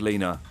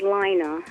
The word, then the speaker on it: Lena: big brother so good Lena well actually my name is pronounced as Lina okay well thanks for